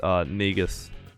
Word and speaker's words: Negus: It's Negus. That's how you pronounce it? I haven't heard anyone pronounce his name. Negus. Yes. Okay, Negus.